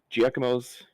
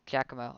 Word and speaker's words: Giacomo: Mackenzie, I have been told that you are pronouncing Giacomo's name wrong. Yeah, you Oh, how do I pronounce it? Because that's how I've pronounced it for a while. Giacomo. Giacomo. Giacomo.